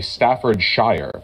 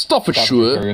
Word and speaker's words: Staffordshire: you American Staffordshire because an American would say Staffordshire but that's definitely not how it's pronounced stuff for sure have a history with